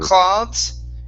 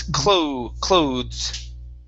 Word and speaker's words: clothes: Right here, instead of cloths, it's clothes. Clothes.